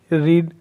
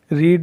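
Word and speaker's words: read: डिड आया तो first form आ गई रीड, हालांकि स्पेलिंग सेम होती है तीनों फॉर्म्स में, बट इनका प्रोनाउंसिएशन जो होता है वो रीड रेड रेड होता है।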